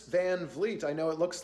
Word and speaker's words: Van Vliet: And yes, that's how you pronounce it. Chris Van Vliet.